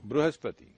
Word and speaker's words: Brihaspati: Brihaspati, Guru. Brihaspati.